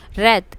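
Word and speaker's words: wreath: The initial W इन रेथ इज not pronounced.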